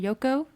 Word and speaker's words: Yoco: talk more about yep is that how you pronounce it yoko it's yoko exactly okay because i'm assuming you guys are